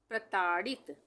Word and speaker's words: प्रताड़ित: प्रताड़ित, यह है प्रताड़ित, प्रताड़ित, प में पदेन की मात्रा आधे रा के उच्चारण के लिए प्र हो गया, ताड़ित, प्रताड़ित, प्रताड़ित।